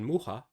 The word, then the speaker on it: Mucha: Blue, Boxer, and Raidman Mucha, as he's told me he's actually pronounced. Mucha is a Polish word, apparently meaning fly.